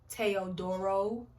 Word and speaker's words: Teodoro: Y'all, his name is Teodoro, actually.